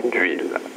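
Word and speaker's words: d'oïl: La langue d'oc était présente dans le sud et dans le nord, c'était la langue d'huile, à prononcer d'huile, d'après le tréma, dérivé du oui français d'aujourd'hui. Ensuite vint le vieux français.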